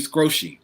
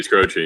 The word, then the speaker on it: Skroce: I always say Steve Scroce, but I know that's wrong. Should be Scroce, yeah, like Croce, the singer and basketball person.